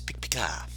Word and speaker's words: Pikpika: It sounds like Pikachu saying its own name.